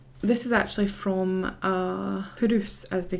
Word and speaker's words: Culross: It's spelled Culross, but pronounced Hurus.